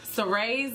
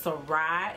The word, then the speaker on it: Sarai: Sarai's name is in the Bible, and it's actually pronounced Sarai in the Bible. I did spell it the exact same. I just put a spin, I guess, on how I said it.